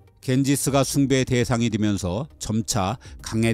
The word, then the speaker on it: 갠지스: 겐지스 어머니 가라고 부릅니다 강가는 강의 여신 이름이고요 스는 를 지배한 영국이 강가를 영어식으로 발음한 이름입니다 겐지스 숭배의 대상이 되면서 점차